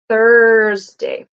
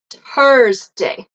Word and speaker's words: Thursday: Lauren La sorry La Thursday Thursday no vibration Thursday so it is not okay so voiceless a common mistake I'll hear that I'll hear it pronounces a d or a t sorry sometimes I'll hear it as an S oops and sometimes I'll hear it as an F so it is not hers day you can repeat